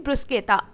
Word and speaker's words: bruschetta: लिए घर पर बनाए इटालियन ब्रुस केता मैंने यहां गलत प्रोनाउंस नहीं किया इटालियंस इसे ब्रुस केता ही कहते हैं और इंडिया में कहा जाता है ब्रुश तो हम तो यहां वही बोलेंगे जो हमारी देसी भाषा में बोला जाता है यानी ब्रुश यह